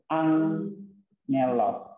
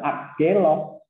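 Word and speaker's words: ἄγγελος: Nah, gamma diikuti oleh apa? Gamma. Benar? Nah, maka ini diucapkan jadi angelos. Ya, N-nya jadi nasal. Gamma nasal. Jadi bukan agelos. Tapi ada jadi ada suara N di sini.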